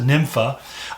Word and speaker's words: Nympha: named numfa uh nufa and then we pronounce it nympha and we get that from the idea of nymphomania there was a nymph